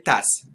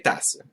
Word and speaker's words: tasses: You don't pronounce the final S.